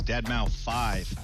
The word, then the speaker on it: deadmau5: is your good friend joel professionally known as deadmau5 yes that is the correct way to pronounce it tell your friends we're here to